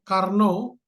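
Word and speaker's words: Carnot: ada yang disebut namanya Karno Karno itu bacanya karn tulisannya karnot Karno ya jadi ee apa namanya ini orang Prancis ya Jadi intinya proses Karno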